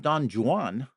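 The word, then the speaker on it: Don Juan: I I used to have Don Jan. That's how it's pronounced. Did you know that?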